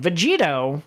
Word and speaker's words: Vegito: you've shown me listen vegito rhymes with cheetos and while cheetos are